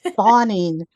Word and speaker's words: Fahning: And plus most people can't pronounce my last name now. It's "Fawning." "Fawning."